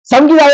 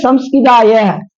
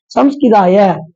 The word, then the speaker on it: சம்ஸ்கிதாய: சம்கிதாய அப்படின்ட்டோம்னா ஒரு உச்சரிப்பு மாறிடுச்சுன்னா பொருள் மாறிடும். யோகபீட சம்ஸ்கிதாய அப்படின்னு சொல்லணும். சம்கிதாயம் செய்யக்கூடாது. சம்ஸ்கிதாய நித்திய யோகினே தியானகாராய ஓம்